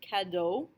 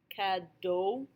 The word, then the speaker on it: cadeau: AU, AUX, EAU, and EAUX are all pronounced O, just like the letter O.